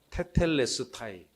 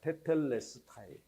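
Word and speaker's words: τετέλεσται: 테텔레스타이. 네, 저거 발음 기호만 알면은 발음하기 무지하게 쉬워요, 저거. 네, 발음 기호를 우리가 모르니까 어떻게 소리내지 하는데 발음 기호만 읽으면 그대로 읽으면 돼요, 그냥. 테텔레스타이.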